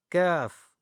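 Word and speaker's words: ك: And here we have, this is the kaf but not the bold, simple, kaf.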